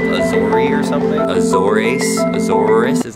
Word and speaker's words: Azores: Free flights from this airline called Azori or something. Azores? Azores, is that what it is? How do you say it in Spanish? Azores? That's it, Azores.